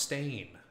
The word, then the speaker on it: STJN: Oh, it's pronounced stain. Okay, I'll probably forget that. Remind me again if I say STJN, because stain's way better.